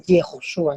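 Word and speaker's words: יהושע: el nombre de Jesús en hebreo tiene una pronunciación en hebreo. Y no se utiliza la Same, sino la Shin. Entonces debe decirse Yehoshua.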